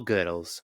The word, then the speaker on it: Goodles: page now and and it says if you're stressed about how to say it just remember it's all goodles I should have trusted